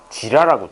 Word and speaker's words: 지라: 간에서 파괴되지는 않고 뼛속에 있는 그 뭐라 그러냐 지라라고 들어봤니? 지라? 지랄이요. 지랄 말고 지라. 지원? 지라라고 들어봤니? 아, 쎄, 잠깐 발음 지.